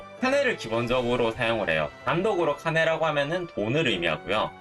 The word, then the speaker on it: 金: 단독으로 카네라고 하면은 돈을 의미하고요.